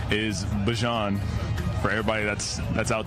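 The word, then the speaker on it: Bijan: Not Bjan, Bjon Robinson.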